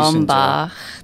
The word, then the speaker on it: Ombach: Perfect pronunciation. Ombach.